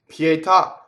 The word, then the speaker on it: pietà: open a pietà so the word pietà is a truncated word the AH with the accent is telling you that there's an extra syllable so the full word that nobody uses is pietà day with a de at the end that do you get cut off so now we have